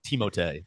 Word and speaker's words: Timothée: Apparently, his first name is also pronounced like Timothée, but it is.